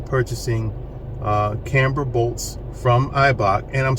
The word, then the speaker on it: Eibach: from eibach and I'm sorry if I've said ebock in the past because I've always known it to be eibach but I saw somebody on YouTube say ebok and I'm like maybe I'm saying it wrong it's eibach eibach lowering springs uh informed